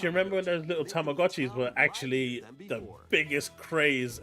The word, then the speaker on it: Tamagotchi: He said Tamagoi instead of Tamagotchi.